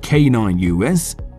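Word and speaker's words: Caninus: make good bandmates canonists the pitbull face grind core band pronounced canine us the two lead singers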